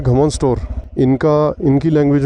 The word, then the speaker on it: Rganostor: घमोन store बोलते हैं। घमोन store और जो लिखा हुआ आ रहा था वो रगना स्टोर था।